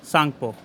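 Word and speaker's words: Tsangpo: सांगपो। T silent होता है इसमें, सांगपो बोलते हैं।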